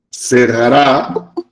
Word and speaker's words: cerrará: agosto 25 o 26 cerrará con acento en la última sr cerrará en el